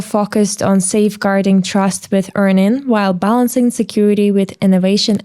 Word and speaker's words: EarnIn: So Stan is actually CISO at EarnIn. Did I pronounce it correctly?